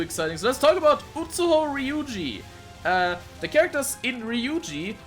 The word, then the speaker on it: Utsuho: Utsuho translates to emptiness, empty hole, or cave in Old Japanese, which is pronounced Utsuho. This is an example of a Japanese counterpoint to spelling pronunciation. The characters for Utsuho also mean sky and can be pronounced ku in a compound word, which is where we get Oku from.